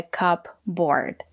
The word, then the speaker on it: cupboard: silent we don't pronounce the letter P a cupboard it's a two-syllable word the stress is on the first syllable a cupboard the second syllable is not stressed we pronounce it as ER like Burger a cupboard this is